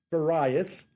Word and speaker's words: Farias: e b s eastern business software incorporated various i pronounced it correct you got it thank you